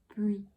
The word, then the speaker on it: bruit: It's bruit, bruit. So the R is kind of really subtle for this one because you kind of gonna get into that diphthong after bruit, and this means noise, so bruit.